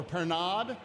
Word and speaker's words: Pernod: A lot of my favorite flavors, and then we're using a little liqueur called Pernod or Pernod, depending on where you're from and how you like to pronounce things.